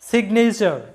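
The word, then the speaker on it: signature: মধ্যে আছে এন, মানে যেহেতু জি এবং এন আলাদা আলাদা সিলেবলের মধ্যে আছে, তাই জি এর উচ্চারণটা হবে সিগনেচার, যেটার বাংলা অর্থটা হচ্ছে স্বাক্ষর, সিগনেচার, এরকম হবে আমাদের উচ্চারণটা।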